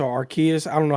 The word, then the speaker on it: Arceus: I think what I'm most interested in is the Legends version, the Arceus or Arceus. I don't know how to pronounce Yeah, it, to yes. be honest with you. It's Arceus.